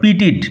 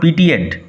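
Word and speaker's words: pitied: ইফ ইউ হ্যাড নট পিটিড my weakness yesterday, উচ্চারণ লক্ষ্য করো, পিটিড নট পিটিয়েড। ইফ ইউ হ্যাড নট পিটিড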